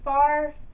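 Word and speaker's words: Farfalle: Number 7, I will probably pronounce wrong, but it is Farfalla.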